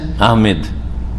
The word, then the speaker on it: আহমদ: আমাদের দেশে নাম উচ্চারণে কিন্তু ভুল আছে। এই যে আহমদ, এটাও ভুল। আর একটা হচ্ছে আহমেদ, ইংরেজি থেকে নেওয়া। ইংরেজিতে লিখে কি? আহমেদ লিখে MED, যার ফলে আহমেদ বলে, ভুল। আহমেদ নাই, আহমদ।